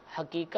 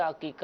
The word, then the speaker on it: عقیقہ: جی ہاں، حقیقہ ہوتا ہے، عقیقہ ہوتا ہے، تھوڑی اس کی بھی یہ عین سے ہوتا ہے، عین سے عقیقہ، عقیقہ. تو ٹھیک ہے، اس کو حقیقہ یا ہا سے کہنا یہ تلفظ غلط ٹھیک ہے.